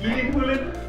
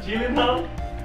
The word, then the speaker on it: Gyllenhaal: Did you know it's pronounced Gyllenhaal, not Gyllenhaal?